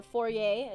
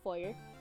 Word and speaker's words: foyer: And then here's the foyer or forier as other people say, even though it's pronounced foyer, right?